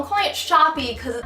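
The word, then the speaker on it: Shoppe: called therapy shop EECOM I call them clients shoppi because it's spelled with two peas and an e at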